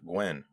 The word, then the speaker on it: Nguyen: to meet Captain Nguyen seen it written Lots not pronounced a lot I'm going to take it at face value that you pronounce it when that seems to be how they pronounced on the show I'm just gonna trust them they wanted to